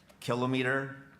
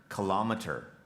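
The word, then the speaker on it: kilometre: number 66 miriam take your word has two correct pronunciations kilometer kilometer kilometer k i l o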